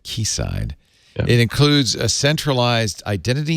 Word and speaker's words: Quayside: proposal for kc side i'm saying it right ki side right you said it's spelled quayside but as i learned quickly that's key like the british natives call it key side it includes a centralized